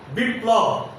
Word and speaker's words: বিপ্লব: একইভাবে বিপ্লব শব্দের প এর উচ্চারণ দুইবার এবং লয়ের উচ্চারণ বজায় থাকবে।